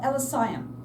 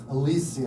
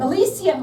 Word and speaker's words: Elysium: Elisian Alisium. Alisium.